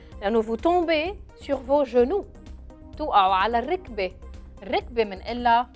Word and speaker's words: genou: Avec le E, je prononce je. Genou. G-E se prononce je. G-A se prononce ga, comme organe.